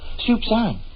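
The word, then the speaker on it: soupçon: Soupsan. Soupsan is a French word meaning a small morsel or a little taste. It's spelled s o u p c o n.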